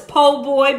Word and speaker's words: po boy: like I want to say poor boy but I know it's po boy but I feel kind